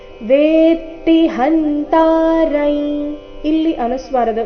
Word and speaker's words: ವೇತ್ತಿ: ಉಚ್ಚಾರಣೆ ನಾಸಿಕವ ಯೇನೌ ವೇತಿ ಇಲ್ಲಿ ಗಮನಿಸಬೇಕು ವೇತಿ ಇಲ್ಲ ವೇತಿ ತ ಕ್ಕೆ ತ ದ ಒತ್ತು ವೇತಿ ಹಂತರೈ ಇಲ್ಲಿ ಅನುಸ್ವಾರದ ಉಚ್ಚಾರಣೆ